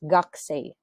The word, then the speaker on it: gakusei: Take note, hindi ko binasa ang u kasi nga magkasunod itong U, ang sinusundan niya is ga. Okay? So that is silent U. Ang pagbasa niyan, that is gaksay.